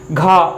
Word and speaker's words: घ: घा। देखिए खा में भी हा की हकार आ रही है, जबकि घा में भी हा की, घा एक बार प्रोनाउंस करके